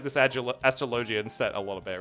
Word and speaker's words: Astrologian: I think it should be pronounced like astrology. What? Astrologian with a hard G? I'm not saying that. Yeah, I would have thought like astrologian or something like that.